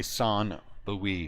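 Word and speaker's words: St. Louis: Cardinals that's very nice St Louie son Louie s Lou son Louie that's how you say it if you know what you're saying you say son L if you're bougie you say son Louie yeah cardal are having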